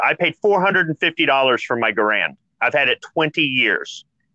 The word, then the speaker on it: Garand: Okay, Garand is a proper pronunciation.